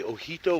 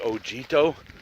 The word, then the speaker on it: Ojito: in case you're wondering how to spell that it's actually Oh J I T oh so it looks like OG toe but the J esperance like an H so it so he told wilderness so check it